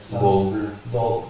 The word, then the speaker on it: Vogler: From there, I wandered the streets of, I don't know how to pronounce the city. It's Vogler, it's like Vogler.